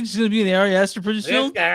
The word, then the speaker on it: Ari Aster: Man, I'm gonna say this dude's name wrong. Ari Easter. Ari Aster, yeah, director of Who's that?